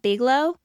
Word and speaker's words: Bigelow: Like I know, I think Bigelow, is that how you say it? Bigelow I think tea?